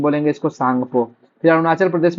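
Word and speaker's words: Tsangpo: सांगपो का spelling English में टी एस ए एन जी पी ओ सांगपो। ठीक है? टी साइलेंट रहता है।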